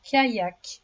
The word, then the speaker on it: kayak: Le deuxième mot repère est le mot kayak. Le kayak. Le son i dans ce mot s'écrit avec la lettre y.